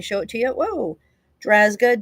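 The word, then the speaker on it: Drazga: That's a that's a tough one to pronounce. So, let me show it to you. Whoa. Drazzga, D R A Z G.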